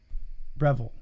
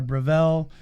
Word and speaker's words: Breville: Revel Breville no it's it's a b b-r-e Breville I think no I I said Revel oh you said Rebel okay that's why I said model cars I thought it was Revenge oh no it's Breville or Breville um espresso machine and uh every year I